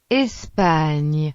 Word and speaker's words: Espagne: Las letras GN se pronuncian como el ñ español, por ejemplo, Espagne.